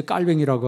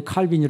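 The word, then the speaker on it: Calvin: 칼빈을 우리의 깔 병일 원래는 깔 100 이라 그래 이 프랑스 사람이 때문에 프랑스로 발음하면 이제 깔 병이라고 하고 영어로 발음하면 칼빈이 라 이렇게 얘기합니다 이 깔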